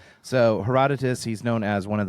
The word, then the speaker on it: Herodotus: her Herodotus you're Herodotus look at I've always pronounced it herodias well let's take a look let's ask let's